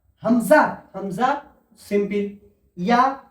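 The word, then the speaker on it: ياء: ইয়া, ইয়া উচ্চারণ হয় জিমের মতো, জিমের মাঝখান এবং তার সোজাসুজি উপরের তালুর সাথে লেগে উচ্চারণ হয়, জিম।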